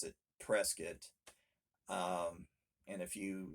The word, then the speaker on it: Prescott: mountain town is prescott spelled prescott but they pronounce it prescott and if you say that if you say prescott to them up there they'll correct you right away it's prescott so they're very particular about that very proud